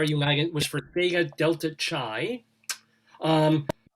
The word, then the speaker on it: Chi: was for Sega Delta chai um that's pronounced Kai is it not is it Kai Chi is Kai it's Kai Kai yeah it's K it's